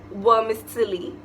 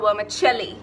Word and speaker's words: vermicelli: using this ingredient I used to call it wormis Sil okay so I I still thought something was wrong in that pronunciation so I literally went on to Google